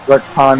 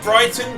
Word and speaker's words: Brighton: We are live here in Bricktown, England, and I'm so excited for the matches we have tonight. It's pronounced Brighton, but you know.